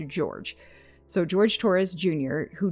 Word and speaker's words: Jorge: is Hispanic in nature but his name is pronounced George so George Torres Jr